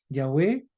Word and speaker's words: Yahvé: sí Y como mucho pronuncia se pronuncia yahvé es Ajá es amor